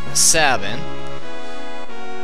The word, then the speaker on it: Sabin: Or Sabine, or however you want to pronounce it. I say Sabin.